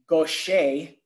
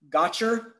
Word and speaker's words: Gaucher: restroom and if they didn't know how to pronounce Gosha GA u CH ER what did they do they skipped champagne because they didn't want to say hey can I have the Bernhard gotcher or if they're from Australia they go hey